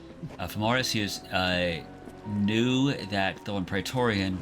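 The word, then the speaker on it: Fomorous Hughes: So, I'm guessing since Femoris Hughes, now that I know how to properly pronounce his name, Famorus Hughes, knew that the one Ptorian was actually like out to get him.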